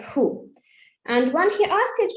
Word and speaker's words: Hu: It's just the name with 2 letters, H-U. And we pronounce it like who.